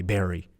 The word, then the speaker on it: bury: corrected me he said you said bury but it's actually Berry I go to the